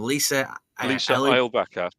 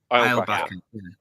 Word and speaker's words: Eilbacher: So both of us are going to meet her later, and she's played by, how do you pronounce her name? Lisa Eilbacher. Eilbacher.